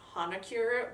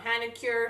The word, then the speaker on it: Hanacure: mask from Seoul Korea actually probably pronounced Honaker but my New York accent makes it come out Hannah cure someone's gonna go with